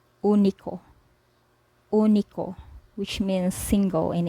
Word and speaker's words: único: This is pronounced as U, as in English, put, book, push. Say for example, we pronounce this word here as único, único, which means single in English, único.